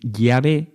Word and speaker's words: Yahvé: Y los judíos pronunciaban Yahvé. La pronunciación Yahvé es sin duda la pronunciación más correcta del hebreo original para indicar a Dios como yo soy el que soy.